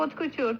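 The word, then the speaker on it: haute couture: Але оце читається откутюр.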